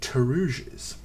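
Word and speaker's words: pteruges: things over the tabard you mean teres uh PT r e GES I think um the p is silent yeah um you can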